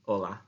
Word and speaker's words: hola: So if you have a look, firstly, there is the word hola, which means hello. Hola, hola, hola. Remember, it's really important in Spanish that we don't pronounce the sound in hola.